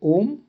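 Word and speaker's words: homme: होता है, तो उसको हम आश बोलते हैं, पर कभी भी आता नहीं। सो यहाँ पे एग्जांपल है ओम। एच नहीं बोला हमने, हमने होम नहीं बोला, हमने ओम बोला, OMME।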